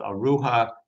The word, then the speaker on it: Ruha: The Syriak name orhigh continues that or tradition in Arabic is called aruha. A slight change in the uh pronunciation and in Turkish as I said still orpha or sonly orpha.